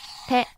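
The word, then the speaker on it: て: Next is a hiragana character, te.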